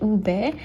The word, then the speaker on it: ube: Those familiar with ube, that's how you pronounce it, ube, the name purple yams are known by in